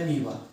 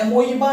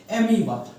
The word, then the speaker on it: Amoeba: देखते हैं nutrition in अमीबा इसका जो ओ होता है ना एमई बा नहीं होता है इसको ओ जो होता है उसको साइलेंट होता है और वो बोलते हैं एमी बा ठीक है इसको क्या